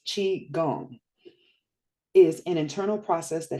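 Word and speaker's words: qigong: but when I typ tried to type in like the word that was in my mind pronounced chi gong is an internal process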